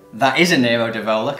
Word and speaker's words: Nero d'Avola: both flee great bike okay this is a narrative Ola that is a Nero d'Avola correct thank you excellent pronunciation thank you this is a song as